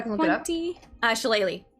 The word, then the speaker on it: shillelagh: Shillelagh. It's like it's spelled weird. It's a druid It's cantrip. spelled like Irish. Yeah. Yeah. 40, 20. Okay. Multi-attack. Shillelagh, will it come up?